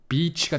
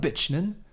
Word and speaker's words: bitch: 발음이 중요합니다. beach가 되면 안 됩니다. son of a beach는 해변의 아들이고 son of a bitch는 쌍년의 아들이죠.